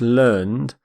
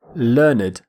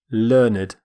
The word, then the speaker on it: learned: an adjective we say learned learned we actually pronounce the e d ending completely which is quite unusual in english learned a learned person